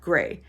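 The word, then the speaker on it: greige: It's spelled G-R-E-I-G-E, but it's pronounced gray.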